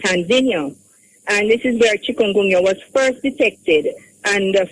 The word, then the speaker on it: chikungunya: of this name and why is it called chikungunya? Why is it called that? Chikungunya. You're pronouncing it very well.